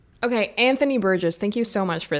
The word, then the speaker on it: Anthony Burgess: language that Anthony Briggs Bess Okay, how to pronounce because like I keep Okay, Anthony Burgess. Okay, Anthony Burgess, thank you so much for this.